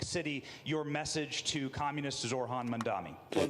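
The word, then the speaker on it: Zohran Mamdani: Zorhan Mandami, who in his every time they mispronounce his name, by the way, he he shoots up 1% in the polls. Every time they're like, "Zai Damagi," he shoots up another 1%.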